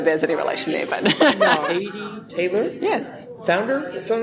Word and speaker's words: Heidi: And that's how they pronounce it, but it's it's spelled Heidi, but means hell. Just drop the S. That's how you pronounce it. I don't know whether there's any relation there, but Haiti Taylor.